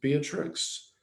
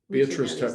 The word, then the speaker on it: Beatrice: strong experts is it is it beatrix i'm getting it i'm getting her name wrong yeah beatrice beatrice chestnut i'm sorry we